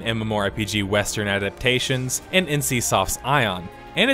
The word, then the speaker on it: Aion: right this time guys it's pronounced ion ion has led you